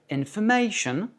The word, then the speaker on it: information: Et tous les mots qui se finissent en ION ont un accent qui porte sur la syllabe qui précède. Donc dans information, le A est accentué parce qu'il précède le ION.